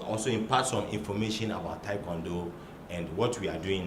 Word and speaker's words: Taekwondo: Unfortunately, you hear some of our media men mispronouncing the word Taekwondo. It's Taekwondo. Taekwondo. Now you see that the spelling is KWO, not KWA. Taekwondo. It's a Korean word. It's a compound word. Tai, Kwon, and Do.